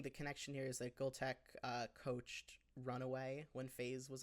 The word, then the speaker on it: Gultek: So you're saying that you got Gultek, or sorry, Google Tech? Is it, how'd you pronounce it?